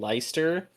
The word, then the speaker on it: Lester: I I watched a few where they were saying Lyster. Um, but I'm I'm going to go with Lester because it's spelled Lester and I don't have enough respect for the man to go for the pronunciations. Phonetics for the win.